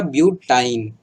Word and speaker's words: ब्यूटाइन: इसको प्रोनाउंस कैसे करते हैं, आइन। जैसे ये इथाइन, यहाँ पर प्रोपाइन, ये हो गया आपका ब्यूटाइन।